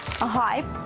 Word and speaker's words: гайд: дещо ви до змінилися вони усі три лексеми в англійській прочитуються через H яка в українській переважно транслітерується як літера г саме тому доцільно вимовляти і писати гештег гайд та гейтер усі фото злочинів РФ